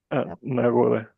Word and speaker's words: нагода: нагода. Нагода, нагода. Hay que pronunciar нагода.